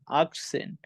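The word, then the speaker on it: achtzehn: 18 কে আমরা বলবো act plus Sen আকসেন 19 কে আমরা বলবো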